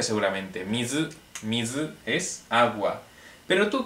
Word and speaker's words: 水: Y ya sabes cómo se pronuncia seguramente. Mizu, mizu es agua.